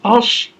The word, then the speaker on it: Ossowiecki: we say in the beginning of the book, he is pronounced Ossowiecki, and once you say it, it rolls off the tongue.